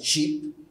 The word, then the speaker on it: ship: means of transport first is articulated as cheap which means that the vowel is a little shorter and not sheep which refers to the animal which is spelled with double e before p so first you must